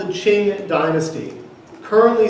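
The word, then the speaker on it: Qing: foundations they found you what they called the Ching dynasty currently spell Q I and G you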